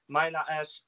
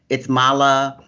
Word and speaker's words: MayLa Ash: Welcome back to my channel My guest, my special guest is IFBB PRO, MayLa Ash I greet you warmly Witajcie, dziękuję bardzo za zaproszenie do tego wywiadu Wspomnę, że poprawna wymowa mojego imienia to MayLa Ash (czyt.